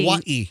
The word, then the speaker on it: Hawaii: Are we talking about Hawaii still?